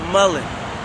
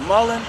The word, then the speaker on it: mullein: There's something called mullein. M-U-L-L-E-I-N. Mullein. It looks like mullein, but most people pronounce it mullein.